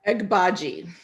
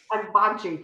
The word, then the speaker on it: Agbaji: So, Elizabeth, our question today stems from our conversation with Ruth Agbaji. Is that how I pronounce it? Agbaji. Agbaji.